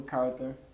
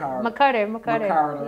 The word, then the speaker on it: McCarter: You got Layla McCarter, former I know I said it wrong. That's all right. McCarter.